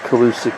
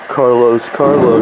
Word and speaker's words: Calus: This talks about the scene inside of Mount Key, which was the Calusa capital. We call Carlos, but his name was Calus, and the Spanish mispronounced it, and hence we now call him Carlos.